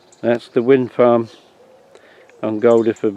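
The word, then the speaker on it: Guldeford: That's the wind farm on Goldiford Marsh, or Guildford Marsh, some people pronounce it.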